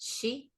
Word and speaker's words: sith: But if I remember correctly, when it's it s i t h, it's actually pronounced Shee.